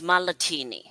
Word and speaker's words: Malatini: If you've heard of the drink martini, it's Malatini.